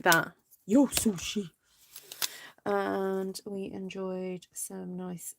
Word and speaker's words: Yo Sushi: yo sushi you gotta say it like that yo sushi and we enjoyed some nice sushi and some